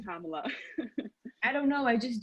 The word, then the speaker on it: Kamala: But I'm just saying, it's pronounced Kamala.